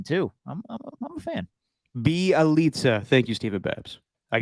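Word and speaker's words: Bjelica: Belicia? What'd I call him? Belicia, my bad. I'm all off today, Steven. Bielitsa, my bad. I always mispronounce his name.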